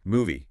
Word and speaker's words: movie: Movie, 2 syllables. Movie. Ends with that E sound, like in see.